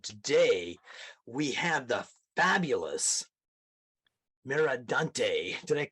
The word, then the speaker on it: Mercadante: of the people so that that's great so pronounce it like it's meant to be said merad Dante merad Dante love it we had a great interview about